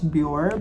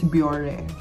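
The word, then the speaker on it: Bioré: in japan as well i pronounce it as bjor but my japanese kohli told me it's biore so i don't know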